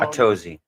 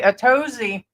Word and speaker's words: Atozy: Otosi or Totosi. How do you say the other boy? Atosi. Okay. Atosi.